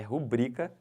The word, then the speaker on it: rubrica: aí não não pode isso não é proparox isso é paroxítona é rubrica sempre tá bom olhem para